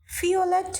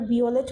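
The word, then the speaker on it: Violett: সোনালী ইংলিশের মতই আছে গ্রাউ মানে হচ্ছে দূষর ফিওলেট মানে হচ্ছে বেগুনি এটাকে আবার বিওলেট বইলেন না ভি আছে তাহলে ভি ভি এর উচ্চারণটা আমরা জানি ফ এর মত হয় জার্মান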